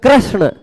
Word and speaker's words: कृष्ण: में ऐसा होता है, री बोलना है लेकिन र बोल जाते हैं, कृष्ण कृष्ण। अब इसमें कृष्ण, बहुत सारे लोग कृष्ण